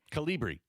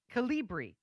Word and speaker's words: Calibri: Calibri. Calibri.